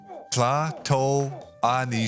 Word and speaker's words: Tlatoani: It's pronounced Tlatoani Shroud. Tlatoani Shroud. The T, you gotta like soft pronounce the T, and that's really hard for me.